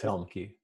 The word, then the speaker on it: Helmke: Yes, it is Helmke. I even pronounced it right.